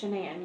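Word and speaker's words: Shanann: It's Shenan. You pronounce it like Shenanigans. Everybody called her everything else but that, but it's took me like two years to get it down. Okay. Yeah. I've heard Shannon.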